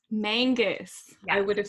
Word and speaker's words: Mangas: Mangus. Mangus.